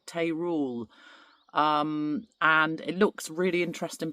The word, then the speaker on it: Teruel: And it's spelled T-E-R-U-E-L.